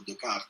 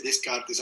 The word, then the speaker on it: Descartes: va a nuestro querido Decart, ¿no? Eh, aquí eh sí que aquí se dice descartes, aunque a mí me gusta mantener la pronunciación originaria.